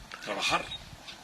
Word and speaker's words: trabajar: I go, "Trabajar." And he goes, "Trabajar?" And I go, "No, trabajar, trabajar. You have to roll your R's.